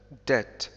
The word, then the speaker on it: debt: إذن في جميع الحالات التي ينطق فيها، التي لا ينطق فيها حرف أو صوت ب، هي عندما يأتي بعد م، like tomb، thumb، crumb، limb، وعندما يكون قبل حرف أو صوت ت، debt، doubt، subtle. إن كنتم تعرفون أي كلمات